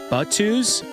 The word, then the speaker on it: Batus: Oh, wait, by the way, Seth, my nickname is pronounced Batus? Like Batu, like Batus? From Star Wars.